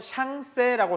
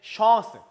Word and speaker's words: Chance: 자, 우리말로는 샹세라고 써놨을 거예요. 보통은 샹세 발음 쓸 때. 근데 이게 끝에 에가 발음이 크게 되지도 않을 뿐더러 그래서 읽을 때 chance 이렇게 chance 이렇게 있습니다. 샹세가 아니고 그냥 chance, chance.